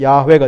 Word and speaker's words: 야: 하나님 여호와 하나님을 생각하면 야는 히브리어 본문을 그대로 지적하면 발음하면 야가 됩니다 야를 생각하면 나의 마음은